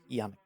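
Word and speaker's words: Janik: you pronounce it properly Yanik oh Yanik not jik Yanik Yanik oensi Yanik oensi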